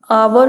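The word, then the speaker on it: hour: Similarly the consonant H इज a silent word आवर which is pronounce just like अवर।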